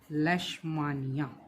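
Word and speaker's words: Leishmania: More organisation of their bodies such as इन लेस्मानिया which cause kala-azar. ये ध्यान से करना है। क्या पढ़ रहे हैं हम? लेस्मानिया। स्पेलिंग क्या है? यह ध्यान से पढ़नी है। लेस्मानिया क्या करता है भाई? लेश्मानिया।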